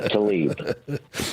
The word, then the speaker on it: Tlaib: Remember, pronounce it correctly, Eric. Rashida Tlaib.